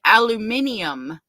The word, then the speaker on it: aluminium: Cozy said she should have used that aluminum foil to make herself a hat. Aluminum foil for the aliens. Yep. I like how the British say, they say aluminium. Aluminium.